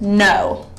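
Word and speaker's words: know: K can either sound like a K in the word key, or the K can be silent, like in the word no. You don't pronounce the K at all. No.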